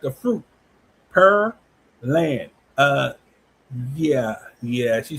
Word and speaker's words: Pearland: It's per land, not peril. It's pear like P E A R. Pear and then land. I always messed it up. I always kept saying per.